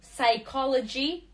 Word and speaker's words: psychology: Буква P не произносится psycho, psycho, psychology, psycho. P не произносится.